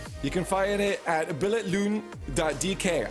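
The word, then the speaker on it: Billetlugen: You can find it at billetloon.dk. I was told the G is silent, so I'm getting closer.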